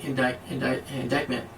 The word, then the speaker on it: indictment: is also a stunning indictment. I don't know how to say the word. Indictment? That's how you say it.